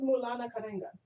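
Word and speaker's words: Maulana Karenga: Could you pronounce his name one more time, please? His name is Mulana Karenga, Oh, Karenga.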